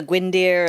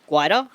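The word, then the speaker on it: Gwydir: The gwinder and the guider. Guyer. Yes. It's not how it's pronounced in Welsh, but it is in Australia.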